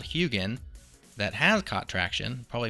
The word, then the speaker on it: Huginn: talk about Concepts and many things we just pronounce them differently and so I thought it was hugging ever since I've heard about it which was